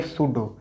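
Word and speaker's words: pseudo: उस तरफ पी के बाद हमारा एस है तो पी साइलेंट हो जाएगा, बोलेंगे सूडो।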